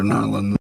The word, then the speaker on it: New Orleans: the Air Force from New Orleans. That's how you say it. Northern New Orleans. New Orleans. New Orleans or Nland or however it is you want to there's variations on it.